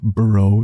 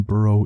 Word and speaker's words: burro: a burrow now normally burrow is pronounced with rolling R's as it is a Spanish word for risk of perhaps